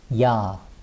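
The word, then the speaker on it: ㅑ: little bit so it's ya ya so the first day of the is ya and it's written as y a and it's pronounced as ya ya so this phonetic symbol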